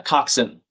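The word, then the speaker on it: coxswain: Coxin. Cox for short. Usually this the full word is c ox w a i n as some people have as dtm is spelled in chad.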